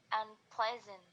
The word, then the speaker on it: unpleasant: Jadi untuk kasus yang kedua ini tetap pada kata dan di syllable atau suku kata yang sama. Jadi unpleasant. Jadi stresnya tetap di ple-nya.